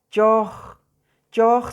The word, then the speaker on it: choj: Choj significa chompipe, significa guajolote, como ustedes lo pueden conocer, pero la pronunciación es choj, choj, es O prolongada.